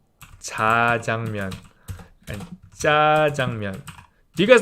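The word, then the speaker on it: 짜장면: But it's spelt as jjajangmyeon. But then when people say it, they say jjajangmyeon.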